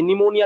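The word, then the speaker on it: pneumonia: মনে রাখবে ঠিক আছে নিমোনিয়া ডিমোনিয়া যত কিছু আছে নিউমোনিয়া রিলেটেড যেটা একটা ঠিক আছে এগুলো পি দিয়ে শুরু হয় পি থাকলে পরে এন উচ্চারণ করি ঠিক আছে পিএন থাকলে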